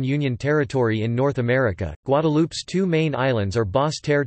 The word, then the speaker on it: Guadeloupe: Guadeloupe, French pronunciation, Guadeloupe, Antillean Creole, Guadeloupe, is an insular region of